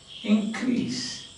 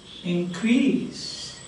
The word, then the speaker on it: increase: Nouns take stress on the first syllable. For example, we saw increase. Increase. So, this is noun. Increase. But verbs take the second syllable. See? Increase.